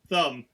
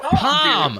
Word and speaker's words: Thom: Thumb, like what I have in my hand. His name is Thumb Matthews? Maybe, I don't know. What? Thumb? Thom. How's that pronounced? That's just Tom! Dude. That's fucking Tom!